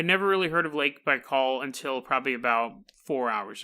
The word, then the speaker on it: Baikal: gonna Russia this is Lake Baikal Bai KL Lake Baikal is on the conspiracy